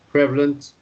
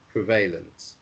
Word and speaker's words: prevalent: can choose whether to pronounce it the american way prevalent or the british way prevalent becomes it comes from the the verb to prevail and um obviously you know it's not the same uh pronunciation but both are good but remember that if